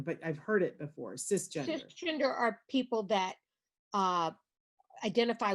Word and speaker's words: cisgender: Is it CIS gender? Cisgender. Yeah, cisgender. And it's not a term that I know well enough to define, but I've heard it before. Cisgender.